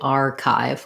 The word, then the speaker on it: archive: Then archive, first syllable stress, unlike our earlier word hindsight, we're not doing archive. We don't want equal stress on them. We want long on the R and then short on the chive.